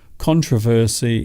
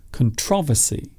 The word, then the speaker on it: controversy: word you might find in formal english controversy is more regularly used however you will also find nowadays more people say saying controversy so the emphasis or stress is on the second syllable here's another one a